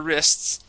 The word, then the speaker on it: wrist: Yeah, we say it so quick. It almost sounds like we skip over that T and say wrists. Wrist. But the T is there.